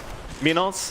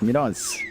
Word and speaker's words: Minos: And John, I am pronouncing that correctly, am I not? Minos. Absolutely are, Mike. Very clean. Thank you, yes, John. Minos.